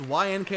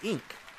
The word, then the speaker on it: YNK: is pronounced YNK. I thought it was Ink.